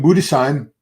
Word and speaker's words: Budesheim: 30 yet this is late 20s uh Tim budesheim it's the correct pronunciation from Germany Tim brought a great package